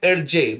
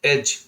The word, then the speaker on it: edge: आगे बढ़ते हैं EDGE, तो इन्हें पढ़ना तो चाहिए हमें एडजे, मगर हम पढ़ते हैं इन्हें एज।